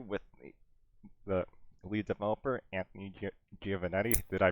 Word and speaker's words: Giovannetti: Welcome to the Slay Spire interview with the lead developer, Anthony Giovannetti. Did I pronounce that right? You did a pretty good job there. Yeah, Giovannetti.